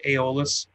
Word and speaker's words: Aeolus: I'm super not happy with it, but it's the Aeolus, I think is what Matt from Sigma Mod said. That's how it's pronounced, the Aeolus.